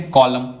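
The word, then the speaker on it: column: कॉलम इसमें N silent है।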